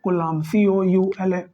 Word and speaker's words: Coulomb: इसको भी थोड़ा, अरे यार इसको सही कर लीजिए भैया, कोलाम्ब, COULOMB, ये होगी स्पेलिंग, कोलाम्ब।